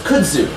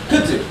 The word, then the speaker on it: kudzu: So kudzu. And how do you spell that? Guess, anyway. Yes, that. K-U-D-Z-U. Yay, kudzu. So the Z sound is pretty much a Z.